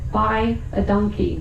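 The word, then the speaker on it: dankie: thank you very much, we say buy a donkey, which is spelled D A N K I E, but it sounds like purchase an ass.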